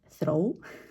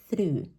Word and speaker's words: through: pronounce all of them so we have the word throw throw throw which is you know L throw which is not okay the pronunciation for this word will be through through now there are two